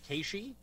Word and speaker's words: Keishi: How is it actually pronounced? Okay, so it's Keishi, and then.